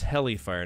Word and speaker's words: Helifire: So, that was Helifire, not Hellfire. We got to make sure that's spelled right. Helifire.